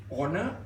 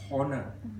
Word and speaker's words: honor: values instead of values honor the H is silent it is not honor occasionally a occasionally a